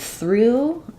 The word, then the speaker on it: through: says the oo vowel so we have the voiceless th the r and the U I would maybe write this as through to practice saying it start with Ru pull your tongue back and do your R and your U Ru then just sneak the tongue back forward for your th Ru through and then for this